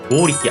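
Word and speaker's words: 剛力: 역도산의 일본 발음은 리키도잔이라고 하는 발음이 되고요. 지금은 잘 보이지 않는데 한때 굉장히 유명했던 여배우의 이름으로 고우리키 아야메라고 하는 배우의 이름이 있었어요.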